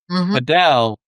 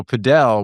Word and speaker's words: padel: Yo, so Pedell, which you guys are calling Padell, by the way. All right. Is spelled P A D E L. And correct. That's Pel.